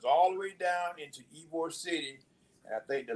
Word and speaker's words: Ybor: town called Ybor City it's spelled Ybor sometimes people call it whiteboard but it's like Ybor City and that is uh